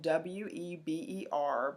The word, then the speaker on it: Weber: term life chances remember his name is w/e BER but we pronounce it Weber so Max Weber studied